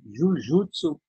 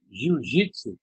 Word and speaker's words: Jujutsu: E, na realidade, Jujutsu e Jiu-Jitsu, que a gente pronuncia no Brasil, eles são escritos em japonês através de um kanji da mesma forma. É só o erro de pronúncia do ocidental, né?